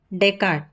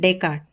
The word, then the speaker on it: Descartes: This is Renee and this is Descartes. नहीं, Descartes. So just keep it, remember the pronunciation.